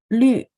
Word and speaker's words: 虑: Lü, dia bacanya mulutnya setengah bulat, teman-teman lihat ada U.2 di atas. Lü. Kita ada LU, ini bacanya lu. Tapi kalau yang kayak gini bacanya lü. Ya, mulutnya separuh bulat.